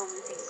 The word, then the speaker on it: Rupee: I think in Zelda 1, they're actually just called roops, because they're, like, spelled with one E. But they're supposed to be pronounced rupee, but there was just